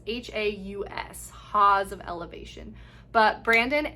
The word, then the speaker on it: Haus: And so I believe it's pronounced Haus of Elevation. It's Haus, Haus of Elevation.